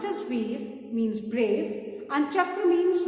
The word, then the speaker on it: Veer: Param means ultimate, Veer, pronounced as Veer, means brave, and Chakra means wheel in Sanskrit.